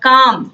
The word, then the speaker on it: calm: हैं जो साइलेंट हैं, जैसे यहाँ पर काम लिखा हुआ है तो CALM स्पेलिंग है लेकिन L का उच्चारण नहीं हो रहा, काम CAM हो रहा है